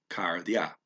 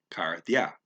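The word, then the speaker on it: καρδιά: first said it, but it's the flat tongue th. Karthya. So you got to say that flat tongue th and not stress the syllable. Oh, in this case, do stress the syllable. I mean, okay. Karthya, Karthya. Okay. The IA umlaut gets marked on the A, and I can only hear it as ya.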